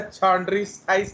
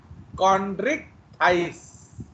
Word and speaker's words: Chondrichthyes: अबे चॉन्ड्रिस्थाइस नहीं है, कॉन्ड्रिक्टाइस, कॉन्ड्रस।